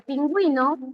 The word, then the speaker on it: pingüino: Sí, porque pingüino tú vas a pronunciar aquí la u suena y si suena se forma diptongo verdadero.